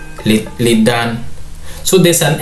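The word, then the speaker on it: lixdan: If we were to read the way it is, it would be, the 60 would be legs dan. But somehow from my research, the Somali language is the X kind of is silent, so this would be pronounced as lidan, lidan. So the X somehow is kind of silent.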